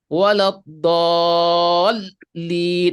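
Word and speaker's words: ولا الضالين: Ada yang dia supaya tidak salah menyebutkan tasdidnya, maka dia sedikit menekan. Waladhdallin. Nah, sehingga ketika kita dengar seolah-olah terputus. Seperti sebenarnya dia ingin menyambung antara do yang panjang ini dengan lam tasdid. Waladhdallin.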